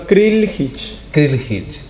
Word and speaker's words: Krljih: Krivjic.